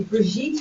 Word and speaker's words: Brigitte: I'm Brigitte. It's actually a French name. It rhymes with sweet. You know, sweet Brigitte.